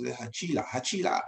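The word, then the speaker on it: Hachilah: And Saul pitched his in the hill of Hachila. That's the right pronounce. That's the right pronounce. Hachila, yeah.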